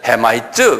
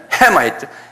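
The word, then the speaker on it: Hamite: 근데 액센트가 다 있어요, 영어는. 한번 발음해. 쉐마이트 그래. 쉔 앞에 쉔에 있어요. 그 다음에 햄도 헤마이트 그래. 헤마이트 그런 게 아니에요. 헤마이트. 그러니까 도레미파 솔로 올라가요.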